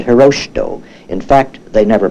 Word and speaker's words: Hirohito: was known under the name Hirohito or as the Japanese would pronounce it hiroshi doh in fact they never